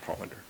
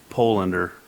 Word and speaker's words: Pollander: This time I move to nominate Sherman Pollander. I'll second. Pronounced Polander. Pollander.